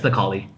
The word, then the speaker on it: Necalli: It sounds like Necalli. Yeah, it's Necalli.